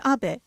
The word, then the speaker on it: Abe: My name is Abe, but in the United States, some people mistakenly pronounce my name as Abe, but that is not